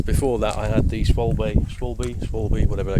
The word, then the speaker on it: Schwalbe: The old, I still can't remember how you pronounce it. Schwalbe.